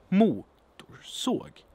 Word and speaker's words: motorsåg: Motorsåg. Motorsåg. Motorsåg. Motorsåg. So the second syllable here is totally unstressed. You could almost leave it out and you will still be able to recognize the word.